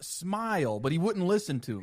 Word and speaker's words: Smey: It's supposed to be pronounced smile, but he wouldn't listen to me.